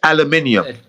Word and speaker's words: aluminium: British English, it's aluminium. That's British live. It's actually spelled different. It's aluminum in the States and aluminium in the UK.